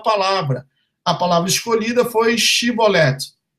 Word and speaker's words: Shibboleth: A palavra escolhida foi Shibboleth, pois a população de Efraim pronunciava o S de uma forma diferente, dizendo Siboleth, sendo imediatamente detidos e mortos.